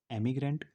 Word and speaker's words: emigrant: एमिग्रेंट की spelling होती है EMIGRANT। इसमें सिर्फ एक ही एम होता है, इसको पढ़ते हैं एमिग्रेंट। और इसकी स्पेलिंग होती है IMMIGRANT। इसमें डबल एम होता है, इसको पढ़ते हैं इमिग्रेंट।